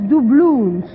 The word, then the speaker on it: doubloon: Et en anglais, apparemment, ça se prononce doubloons. Doubloon. Doubloons. Doubloons. Bien, Doublon Doubloons. avec deux O pour terminer le mot.